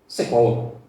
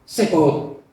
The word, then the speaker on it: Shavuot: Tulisannya Shavuot, tapi dibaca Sebaot. Betul? Sebaot.